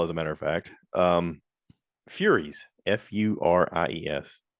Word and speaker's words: Furies: Furies, Furies. I know some people are going to pronounce it furries. For whatever reason, we spell the word the same way.